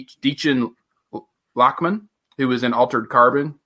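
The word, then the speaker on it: Dichen Lachman: It's Deechin Lachman, who was in Altered Carbon.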